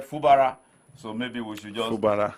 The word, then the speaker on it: Fubara: wi and man fubara I had the correct pronunciation from the man from OB now he said fubara so maybe we should just F he called